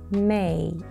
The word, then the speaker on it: May: So it's May.